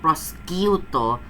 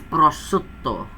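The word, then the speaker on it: prosciutto: is one of those it's not proo it's pruto can everybody pronounce it correctly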